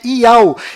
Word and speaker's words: Yahu: nome do Criador é Yahu, e a última letra do seu nome tem som de H mudo, do qual não altera a pronúncia deste nome.